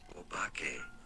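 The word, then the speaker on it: お化け: The pronunciation is as obake.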